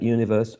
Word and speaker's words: universe: We talked about the general rule for 3-syllable words, like universe, article, relative, democracy. And here the rules indicated that the third syllable from the right to the left was the one which carried the stress.